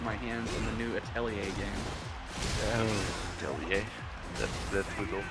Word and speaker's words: Atelier: Meanwhile, all I'm waiting for is to get my hands on the new Atelier game. Atelier? That good old classic. That's how you pronounce it?